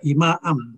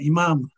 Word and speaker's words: IMAAM: cita-cita sini Dik sapi nama itu imaam harusnya bacanya imaam bukan Imam supaya tidak rancu dengan imam yang baik Maaf Indonesian muslims selesai